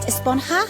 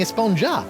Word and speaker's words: Esponja: Actually, it's pronounced Esponja with an H sound at the end. Really? But we've all been saying Esponja. Yes, I know. It's been bothering me this whole time.